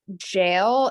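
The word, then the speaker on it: gaol: went called kill mhem jail and I'm probably not pronouncing that right jail is spelled g a o l and if you've seen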